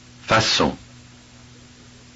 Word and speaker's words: façon: Notice that the C is pronounced like an S. Look and listen and imitate. Façon, façade.